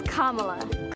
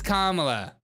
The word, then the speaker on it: Kamala: not Cala oh it's not Cela carela it's Kamala it's Kamala KLA Harris it's kamla what a racist that's a white racist